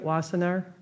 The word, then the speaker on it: Wassenaar: okay is it mr wassenaar yes is that how you say it was there yep that's really that's pretty good